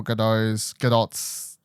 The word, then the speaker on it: Gadot: This is Gal Gadot's. I found out recently. It's actually, you got to say the T apparently.